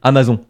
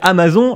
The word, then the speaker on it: Amazon: une théorie pour moi, on prononce tous mal cette marque, on devrait à mon avis dire Amazon.